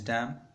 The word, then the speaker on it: damn: I have this word meaning डैम, DAM, and damn pronunciation is damn, exclamation and expression of anger.